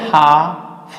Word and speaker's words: half: इसको बोलेंगे एच है हाफ, हाफ हो जाएगा, ये हाफ नहीं बोलेंगे, हाफ बोलेंगे।